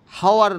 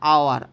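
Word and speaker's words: hour: হয় কিন্তু হাওয়ার না, আওয়ার, আ সাউন্ড আসছে, ভাওয়েল সাউন্ড, ওই জন্য অ্যান আওয়ার হবে, অ্যান অনেস্ট ম্যান হবে। বুঝতে পারলাম? এগুলো ফার্স্ট সাউন্ডটা, এইচটা সাইলেন্ট আছে, উচ্চ আছে, তো এগুলো পড়তে হবে, ঠিক আছে।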